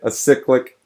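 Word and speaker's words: acyclic: okay i said it right this time directed a cyclic graph there we go um and they use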